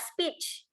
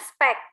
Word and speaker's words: speech: Misalnya tadi speech, bahasa Inggrisnya adalah speech, bukan spek ya.